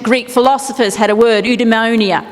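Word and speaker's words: eudaimonia: philosophers had a word udonia don't know how you say it sounds like pneumonia but anyway it translates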